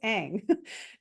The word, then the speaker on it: Aang: gosh, sorry for saying Ong, that's not the way you pronounce it, it is Aang.